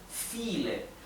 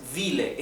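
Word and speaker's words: viel: file significa muchos file Recuerden que la v corta o la v v en alemán cuando viene ida por una vocal se pronuncia Igual que una F nuevamente la v la v del alemán seguida de vocal generalmente se pronuncia como una F por lo tanto esto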